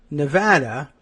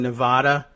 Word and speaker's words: Nevada: I grew up saying Nevada and so did I guess Donald Trump. But if you say Nevada and Neadans say Nevada, it's Nevada. I understand you learned it wrong, but okay. And I I also understand the argument that Nevada is arguably wrong. Uh it it's from the Spanish.